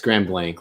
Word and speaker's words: Grand Blanc: eye on both blank it's Grand Blank like BL and K just a I've heard it pronounced both ways so I don't want to get ripped on by people I'll pronounce it both ways yeah yeah I saw